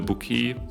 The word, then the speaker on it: bokeh: with this lens here the bookie actually that's the right pronunciation bookie and the book here